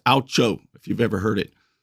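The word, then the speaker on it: OUCHO: the legal profession it's an acronym o-u-c-h-o it's pronounced aucho if you've ever heard it and if you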